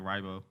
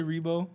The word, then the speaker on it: Riebow: our first try really everybody usually call me like ribo we always say rebo yeah yeah i would